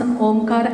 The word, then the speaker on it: Omkar: Swami said we need to pronounce Omkar. Omkar, 3 syllables.